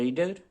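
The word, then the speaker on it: read: The book should be রেড, অর্থাৎ রিডের third form রেড, বানান কিন্তু একই থাকে কিন্তু উচ্চারণটা হয়ে যায় রেড, রিড, রেড, রেড।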